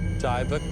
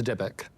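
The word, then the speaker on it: dybbuk: the pronunciation of this this is called a diic box I pronounced that wrong it's diic essentially what it is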